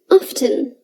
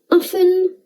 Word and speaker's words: often: pronounce the t they say often oxford and cambridge dictionaries accept either pronunciation so you can go with whatever feels right often or often the next word is